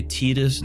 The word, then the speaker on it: Tidus: We get the pup on the battlefield, and then we could play Tidus during the same turn. That's how you pronounce his name.